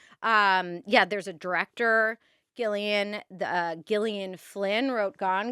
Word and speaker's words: Gillian: So, I uh my mom read the name in a book, had never heard anyone say it out loud, and she thought it was Gillian, so I'm Gileian.